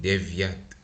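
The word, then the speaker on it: девять: Then we have vosiem and deviat, soft sign again, right?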